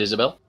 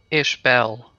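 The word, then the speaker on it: Ishbel: by the way oh is it not Isabel well it's ish Bell oh but Dr Brightstone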